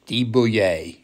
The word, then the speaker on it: de Buyer: english the buyer is de-bouillier is the proper pronunciation of this company this is french we're going to be